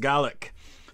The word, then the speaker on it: Gaelic: Oh, the Gaelic culture, Gaelic, in Scotland it's pronounced Gaelic.